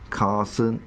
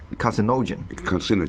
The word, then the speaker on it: carcinogen: The International Agency for Research on Cancer lists beryllium and beryllium compounds as Category 1 carcinogen. Carcinogen. Carcinogen. Yeah. The last but one syllable every time.